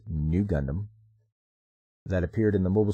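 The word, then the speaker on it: ν Gundam: on a mural raise RX 93v Gundam pronounced new Gundam that appeared in the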